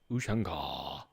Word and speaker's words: Ushanka: Ushanka.